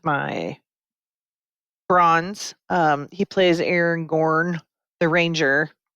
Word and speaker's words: Aragorn: Um he plays Aaron Gorn the ranger. Aragorn, how do you say it?